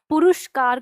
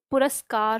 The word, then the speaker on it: पुरस्कार: हम उच्चारण करते हैं जैसे पुरुषकार कर देते हैं, पुरुषकार, तो ऊ का साउंड जो लेते हैं वो गलत होता है, पुरुषकार नहीं पुरस्कार होता है।